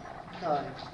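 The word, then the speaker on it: chyme: acidic environment it changes name to this it's pronounced like a k kind the Bolis is now called kind that food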